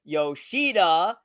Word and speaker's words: Yoshida: I will talk about masataka yosida which is that's how it's correctly pronounced there Joseph and Yoshida